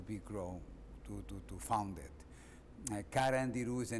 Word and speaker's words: Carandiru: The name is Carandiru. Carandiru. C-A. Carandiru. Very easy to pronounce, but there is no translation.